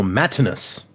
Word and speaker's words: Matinus: So Matinus. There's a note. It's signed Matinus, and then it says pronounced as a Roman style name based off Matt, not as Matt in US.